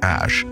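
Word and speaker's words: Æ: बच्चे का नाम एक्स एश A12 मस्क है। बच्चे का सरनेम सिर्फ मस्क है या लिटिल एक्स? ये तो सिर्फ एक्स है, लेटर एक्स, और फिर ए ई है जिसे एश प्रोनाउंस करते हैं।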